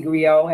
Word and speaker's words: griot: Well, you say griot, I say griot as the T. I don't pronounce the T, but yeah.